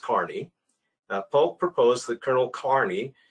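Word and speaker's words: Kearny: general now we'd say kearney and if you go to california they say it's kearney plaza or or kearney road or all those things but it's actually pronounced carney polk proposed that colonel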